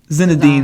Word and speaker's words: Zinedine: Zinedine Zidane.